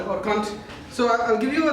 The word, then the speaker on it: Kant: It's pronounced as Kant.